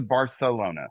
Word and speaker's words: Barcelona: You're supposed to Barcelona. Bar it's like more of a th sounding.